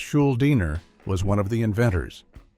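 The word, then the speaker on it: Schuldiner: Chuck Schuliner pronounced Schuliner was one of the inventors.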